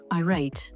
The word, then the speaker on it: irate: By the way, the pronunciation I rate.